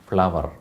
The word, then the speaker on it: flour: ഇപ്പോൾ ഇവിടെ ശരിക്കും എന്താ പറയേണ്ടതെന്ന് FLOUR എന്ന് പറയുന്ന ആ വേർഡ് ഉച്ചരിക്കേണ്ടത് ഫ്ലോർ അല്ല, ഫ്ലവർ.